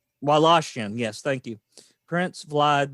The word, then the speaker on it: Wallachian: to have been inspired by the 15th century Wallachian. I've pronounced that wrong. Wallachian, yes, thank you.